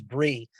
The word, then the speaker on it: Bray: I think the way she pronounces her name is Bree, but it's spelled Bray, ASMR Bray.